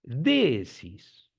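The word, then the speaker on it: δέησις: Esto que ven aquí, ven esto, no le den importancia a la rayita que hay arriba porque indica que es una vocal extensa, que hay que pronunciarlo un poco más larga.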